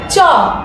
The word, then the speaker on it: চ: ওকে আমি জানি আপনারা সবাই জানেন বর্ণটি হচ্ছে চ হচ্ছে পূর্ণমাত্রার একটি বর্ণ এবং লিখার সময় আমরা